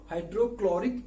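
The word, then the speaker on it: hydrochloric: हाइड्रोक्लोरिक acid में, क्लोरिक में H silent है, तो इसका प्रोनाउंसिएशन क्या हुआ? हाइड्रोक्लोरिक एसिड, जिसका फॉर्मूला होता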